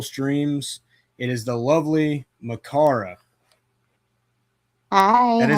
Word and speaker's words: Macarah: It is the lovely Makara. Hi. That is how you pronounce it correctly. At Makara.